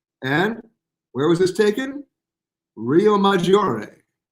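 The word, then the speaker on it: Riomaggiore: Rio Maggiore. How was that pronunciation?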